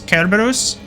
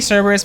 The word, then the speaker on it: Cerberus: I think, correct me if I'm wrong, but I'm pretty sure that the correct pronunciation of Cerberus is Kerberos. I think that's how you actually pronounce it, but I say Cerberus because it doesn't sound as stupid and dumb.